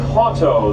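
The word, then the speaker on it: Hauto: We're passing Lake Hoto. That's spelled H A U T O on our left.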